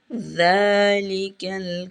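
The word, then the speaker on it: ذَٰلِكَ: ধরলো আলিফ লাম মিম জালিকাল কিতাবু জালিকাল কিতাবু জাল দাঁতের মাঝখানে জিহ্বা নিয়ে জাল জাল উচ্চারণ করবেন জালটা দাঁতের মাঝখানে জিহ্বা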